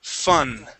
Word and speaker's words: fun: we have so much fan fan okay and that last word is fun fun there you go would